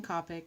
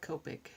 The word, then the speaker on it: Copic: and yes I realize I've been saying Copic instead of Copic for the pronunciation that habits die hard